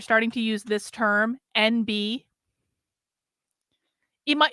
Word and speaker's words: NB: to use this term NB it might it's pronounced like the letter N the letter B but it's it's spelled